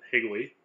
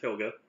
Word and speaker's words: Helga: is : Koga doc pronounced he'll get not pillage not higley I've had many interesting taste on the web name but it is Helga it is German in case anybody is